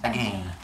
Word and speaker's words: again: And so, why say it as again? Because it rhymes. There you go. Not because I'm fancy, although I am, but it's because it has to do the rhyming with lane.